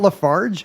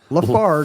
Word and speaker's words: Lafargue: It's not Lafarge. Nope. Lafargue. Lafargue. Hard G.